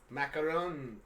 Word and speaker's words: macaron: We got Adrian saying they're macaroons. Did I say that right? Macarons. Macarons. I've heard of them. Macaroons are coconut macarons. Coconut. Macarons are the French cookie.